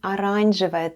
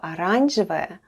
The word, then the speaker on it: оранжевая: The first letter is O, and it's unstressed and is pronounced as A.